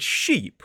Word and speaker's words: sheep: The first word ship, which goes on water, has that short I vowel sound. Whereas the word sheep, which is the animal that goes, has the longer e sound.